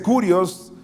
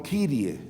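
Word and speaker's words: κύριε: Y me dice, no se dice kurios, sino Kyrie. Y yo me alegré. Pero como no sabemos griego, lo importante es lo que significa. Está escrito kurios, y aunque se pronuncie Kyrie, significa tu Señor, tu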